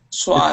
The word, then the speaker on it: swaths: Teacher, what is the pronunciation of sweat? Wait. Oh, swaths. Swaths.